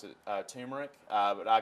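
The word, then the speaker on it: turmeric: yeah that you mentioned earlier say it again tumeric yeah I think some people pronounce it tumeric but I call its America I think you've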